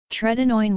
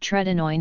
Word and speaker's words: tretinoin: Tretinoin was developed for its use in acne by